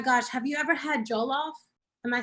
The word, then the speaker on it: jollof: Oh my gosh, have you ever had jollof?